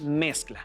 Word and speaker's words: mezcla: y muy bien continuar la palabra es mezcla su sílaba tónica es mes al acomodar la cae